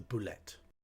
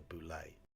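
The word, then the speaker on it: bullette: and D types the bullet I will not call it a boulay because French e double t e will never be pronounced a don't care Mr Cask says it's a bullet otherwise known as the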